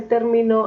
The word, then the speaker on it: término: Si le coloco la tilde en la antepenúltima sílaba, suena término, pero si le coloco la tilde en la última, se dice terminó.